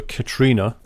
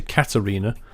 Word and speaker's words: Katarina: a new Scania Katarina I incorrectly pronounced her name I called her Katrina but it's actually Katarina uh she's doing better